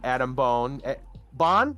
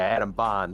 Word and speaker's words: Adam Bond: So Adam Bon, is that how you pronounce it? Right? Bon? Which we know is Artix, CEO Paladin of Artix Entertainment. Yeah, Adam Bond, that's how it's pronounced.